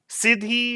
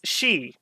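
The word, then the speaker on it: Sidhe: 5 I I think I was pronouncing this uh Sidi or Sidi it's she as in banse as in like a wailing Banshee uh I I don't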